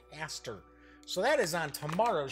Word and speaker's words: Hastur: Cthulhu and Hastur right I think some people pronounce it hey stirred but I've always heard it a stir so that is on